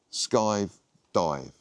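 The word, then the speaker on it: skive: Sky rhymes with dive. Sky dive.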